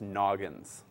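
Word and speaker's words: Nognz: That's how it's spelled, and it's pronounced Noggins.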